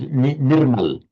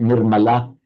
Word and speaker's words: Nirmala: You see people being called Nurmal for example in in Sanskrit Nirmala but in the in the modern languages of northern India the final drop. So they they will pronounce it nurmal which means spotless stain stainless.